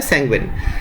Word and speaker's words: sanguine: इसका उच्चारण क्या होता है? सैंग्विन।